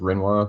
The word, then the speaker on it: Rinoa: you pronounce the name, I pronounce it Rinoa, but I think it's actually pronounced Rinwa, but the main, like,